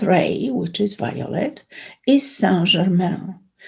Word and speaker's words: Saint Germain: which is violet is saint germain or saint germain if we would like to use the um the english pronunciation saint germain as you